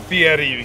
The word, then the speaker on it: Fieri: Guy, is it Fieri? How does he pronounce his last name? Fieri, you have to roll the R, or he gets very upset.